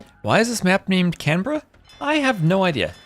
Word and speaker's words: Canberra: All I know is that the Aussies told me to pronounce it as Canra instead of Canberra.